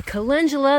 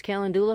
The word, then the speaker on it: calendula: here i'm really happy with these uh my calendula that i've been mispronouncing is calendula for many years now almost ready to bloom